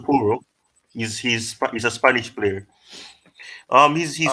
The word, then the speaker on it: Porro: Porro.